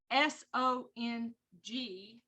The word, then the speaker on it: song: And that's called a song joint, S-O-N-G, song.